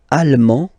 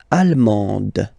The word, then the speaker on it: allemand: L'Allemagne, allemand, allemande, okay, same thing here. Okay, you don't pronounce the final D, but then you pronounce it here for the feminine form.